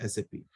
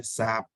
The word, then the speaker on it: SAP: अब आप लोग कई बार प्रोनाउंस करते होगे सैप, राइट, बट सैप उसका सही प्रोनाउंसिएशन नहीं है, क्योंकि उसका एक फुल फॉर्म है which is system application and product in data processing. Sorry. ठीक है। सैप उसका है, क्या है, फुल फॉर्म। तो उसका सही प्रोनाउंसिएशन क्या होगा, एस ए पी।